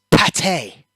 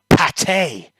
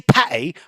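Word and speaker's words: pâté: Pate you have to you have to like pronounce it proper if you say Patty or putty you get told off but if you say Pate it makes you sound real Posh like that's it you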